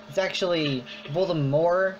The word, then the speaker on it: Voldemort: Actually, the people have been, apparently J.K. Rowling says everyone's been pronouncing Voldemort wrong. It's actually Voldemort, so the T is apparently silent.